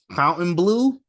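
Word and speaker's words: Fontainebleau: uh it's it apparently it's pronounced fountain blue but it's spelled Fontaine Blue so that's what I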